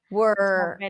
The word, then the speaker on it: were: Were. And then there is the were were in American English is just from the W to the R directly.